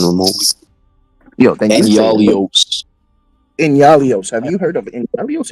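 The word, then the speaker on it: Enyalios: Annihilus? Am I pronouncing this shit right? Nihilus? Not even remotely. Yo, thank you. Yalios. Inyalios.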